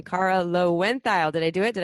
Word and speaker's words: Loewentheil: episode time and I just learned the proper pronunciation of Cara's name Cara low went dial did I do it did I do it